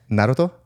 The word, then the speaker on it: Naruto: Naruto? Naruto.